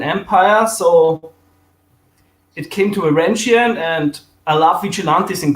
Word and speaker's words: Varangian: How you pronounce it? Actually, it's like an English term, Varangian and Vigilante.